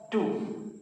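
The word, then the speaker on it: two: टू। टू क्या पढ़ते हैं? टू। तो टू क्यों, टू क्यों नहीं? इसका मतलब आपने इस डब्ल्यू का कोई प्रोनाउंसिएशन, कोई अटरेंस नहीं किया, कोई उच्चारण नहीं किया।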